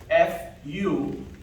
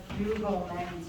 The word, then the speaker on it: fugleman: Carlos, did you spell it? F-U-G-L-E-M-A-N.